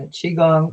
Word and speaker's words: qigong: um but can you recommend a source for key gong movements for beginners qri yeah qigong um q-i-g-o-n-g i would uh you know i